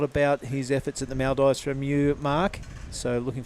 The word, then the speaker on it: Maldives: the Maldives the Maldives you don't say it the way it's spelled it is the Maldives and it was a